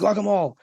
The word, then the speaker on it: guacamole: It isn't though, but guacamole, it's pronounced guacamole, has like salt and pepper, and I'll put